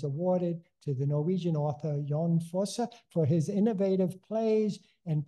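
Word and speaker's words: Jon Fosse: year good and I have time too uh yon for is how it's pronounced and is a relatively young man he's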